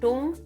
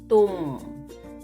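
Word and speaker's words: तुम: It's not tum, it is tum. Your tongue should touch the teeth from behind when you say tum.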